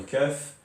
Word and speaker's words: كاف: Le kaf, c'est le palais, on le colle, ou bien la langue, on la colle plus ou moins sur le palais, donc on arrive à